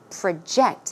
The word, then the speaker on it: project: actual talk we learned the verb form of project so it's project project okay it means to